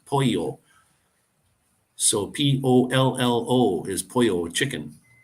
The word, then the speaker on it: pollo: it the L but when there's two L's it's it's a y sound Poyo so p-o-l-l-o is pollo